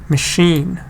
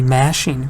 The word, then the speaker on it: machine: We don't say machine, we say machine. Machine. Alone. Stress is on the second.